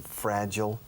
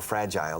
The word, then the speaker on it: fragile: long her parents have been in fragile or fragile there's two pronunciations fragile health how long